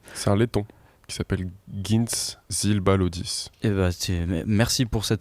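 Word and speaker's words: Gints Zilbalodis: C'est un laiton qui s'appelle Gintz Zilbalodis. Merci pour cette prononciation.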